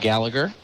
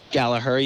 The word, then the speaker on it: Gallagher: a very nice mustache so I went for a a hard G instead of a silent G yeah it's I it's